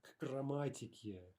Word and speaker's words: к грамматике: Okay, that's rather hard to pronounce, right? But again, the trick is we don't want some major pause there. К грамматике, right? We want to say rather к грамматике.